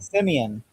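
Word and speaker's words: simian: Simon and the what is how do you pronounce that word? Simeon. Simeon.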